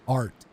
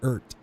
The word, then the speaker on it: Art: His last name is Art, not Ert.